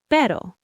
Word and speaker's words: pero: So one R in the middle of a word is soft. It's a light tap of the tongue like in pero.